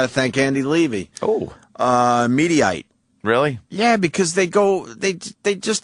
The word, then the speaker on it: Mediaite: Mediaite?